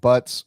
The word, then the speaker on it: Butts: Kermit, I gotta give a shout out Kermit Butts. He's the one that got me hooked in all of it. Nice. Excuse me, did you say his name was Kermit Butt? It's actually Kermit Butts with an S, and it is legitimately Kermit's name.